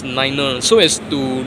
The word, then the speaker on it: nine: So you can pronounce 5 as fiver, 9 as niner.